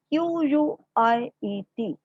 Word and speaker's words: quiet: One concept over here, this word Q-U-I-E-T. To pronounce this word, it is quiet.